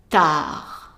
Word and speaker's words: tard: And then the third one, D is silent. Tard, tard.